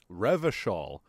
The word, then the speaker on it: Revachol: Revachol. Okay, so that's how we're going to be pronouncing our CHs.